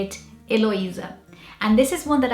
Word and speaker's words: Heloísa: And in Portuguese, we would say it Heloísa.